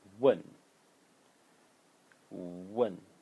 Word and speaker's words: 问: is a very simple character which uh is pronounced one one and the fourth tone and it means to